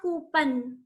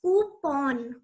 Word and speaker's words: coupon: It's not coupon. It is pronounced as coupon.